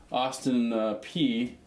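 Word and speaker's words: Austin Peay: But if they don't move that back right here, we can always see Austin P moving on as well. I'm actually shocked you got the pronunciation of Austin P correct.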